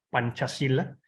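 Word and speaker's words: Pancasila: esta filosofía de estado que se llama panchacila se escribe pancacila pancacilla es una palabra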